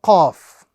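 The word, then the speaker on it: ق: So the correct pronunciation of this example is Qaf. We recite it as an individual letter and we apply the rule of prolongation. Qaf.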